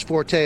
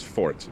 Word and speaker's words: forte: by the way because I believe the correct pronunciation is Fort but no one pronounces it I think it's Forte that's the way I'll